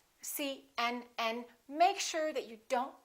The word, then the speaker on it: CNN: example cmn UCLA PhD the rule is we stress the last letter of an abbreviation for example CNN UCLA PhD let me show you how you need to do it when you say CNN make sure that you